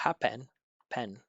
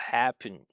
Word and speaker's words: happened: What happened pen? What happened? What happened? Or in past tense, I think he was trying to say past tense. What happened happened, right? Not happen like that.